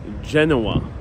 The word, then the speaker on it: Genoa: give a big disclaimer in English uh we say Genoa Genoa uh but in Italian it's Genova with a v um for the context